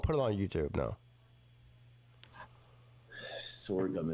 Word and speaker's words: sorghum: Sword gum. It's spelled like this. S O R G H U M.